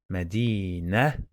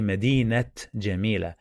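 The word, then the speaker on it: مدينة: city so that's why if i read word by word i say medina medina i don't say medinette medina it is wrong and just pronounced the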